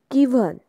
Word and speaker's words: gwine: First of ऑल देखो यहाँ पे कॉन्सेंट्रेट कीजिए, मार्स टॉम गिवन, GWINE, ये ओल्ड इंग्लिश स्पेलिंग है तो हमें इसे गिवन ही पढ़ना है।